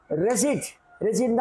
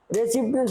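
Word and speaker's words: receipt: Residential அப்படி சொல்லக்கூடாது, ரெசிட் தான் சொல்லணும். ரெசிப்ட்னு சொல்லக்கூடாது. இது ப்ரொனன்சியேஷன் தான் சொல்லணும், ப்ரொனவுன்சியேஷன் சொல்லக்கூடாது.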